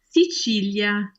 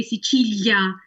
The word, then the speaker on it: Sicilia: Yes, there are some words in Italian which could at times sound as if they were spelled or pronounced with a y sound.